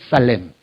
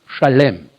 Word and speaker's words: Shalem: called the city of shalem shalem you know it from your bible in english as salem s-a-l-e-m salem but actually it should be pronounced shalem right that's genesis 14